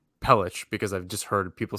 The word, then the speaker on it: Pelech: it but yeah so every time I say peluk in my head know that it's pelich because I've just heard